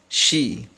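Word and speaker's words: し: In Japanese you cannot see she sound, so it is gonna pronounce this just like she. This one is she.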